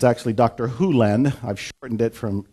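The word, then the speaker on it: Hew Len: Hu Len, I've shortened it from E to Dr. Len, but it's actually Dr. Hu Len, if you want to say his name correctly. In Dr.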